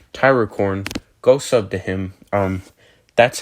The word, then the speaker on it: Tyrocorn: Anyways, so there also another thing I wanted to say, Tyracorn, go sub to him. That's how, because like last time I mispronounced his name and everything, so and so